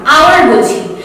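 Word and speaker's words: hour: কেন কি আমরা আওয়ারটাকে হ বলে নয় ও বলে উচ্চারণ করছি, আমরা কিন্তু হাওয়ার বলছি না, আওয়ার বলছি।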